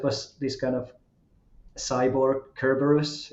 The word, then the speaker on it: Cerberus: this kind of cyborg Kerberos is that how you pronounce it things maybe but close yeah Cerberus yeah yeah yeah anyway